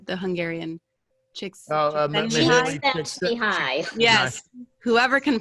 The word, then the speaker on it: Csikszentmihalyi: Mihaly Csikszentmihalyi. Yes. Whoever can pronounce that, good on you. It's Chick sent me high is how you've remembered her.